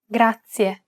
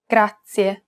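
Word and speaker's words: grazie: previous lesson it's pronounced grazia this word uses the rolled r sound grazia to pronounce this sound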